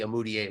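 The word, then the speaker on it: Umude: No, I'm just giggling to myself that Stanley Amudier rhymes with Emmanuel Mudiay.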